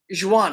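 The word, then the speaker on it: Joughin: Charles John Juan, I believe it is. Joan is how you pronounce his name.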